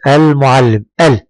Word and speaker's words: المعلم: المعلم. المعلم، انطق معي المعلم. هل تنطق اللام؟ نعم أنطقها، إذن فهي لام قمرية.